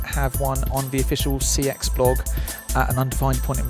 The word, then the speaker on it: CeX: one on the official CX blog an undefined point in the future is it cex or six they like it pronounced sex but I feel slightly silly so in though I